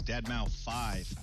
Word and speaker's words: Deadmau5: Your good friend Joel, professionally known as Deadmau5. Yes, that is the correct way to pronounce it.